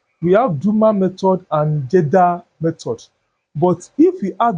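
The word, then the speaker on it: Kjeldahl: This girl is silent you call it what? Jeda.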